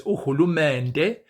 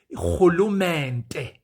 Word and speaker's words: uhulumende: The word uhulumeni is um well, it can also be pronounced in IsiZulu as uhulumende. In IsiXhosa, this word is pronounced closer to the old Afrikaans as uhulumende.